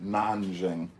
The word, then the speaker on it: Nanjing: isn't it ning no it's nonan n a n j i n like Beijing naning and one means North